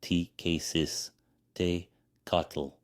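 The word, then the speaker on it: Tecuciztecatl: Tequistecatl pronounced T-K-Sis, Te-Catl, person from Tequistlan, a place name meaning place of the conch, boastfully said, "I will be the next sun.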